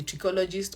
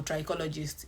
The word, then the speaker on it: trichologist: An expert in that field is usually regarded as a trichologist or trichologist. Either ways, you can pronounce it either ways.